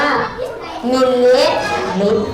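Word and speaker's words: มล.: อ้า 600 มร อ้า มร ไม่ ได้ อ่าน ว่า มนต์ นะ ลูก อ่าน ว่า ย่อ มา จาก คำ ว่า มิลลิลลิ เพราะ ฉะนั้น นัก เรียน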